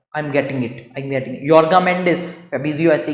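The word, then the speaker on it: Jorge Mendes: उसमें पोर्तुगीज में नहीं कर पा रहा हूँ, पोर्तुगीज नाम है, जॉर्ज मेंडिस नहीं है उनका नाम, योर्गा मेंडिस है, योर्गा मेंडिस, जी हाँ, आई am getting it, योर्गा मेंडिस, फेबिजियो ऐसे ही कहता है ना।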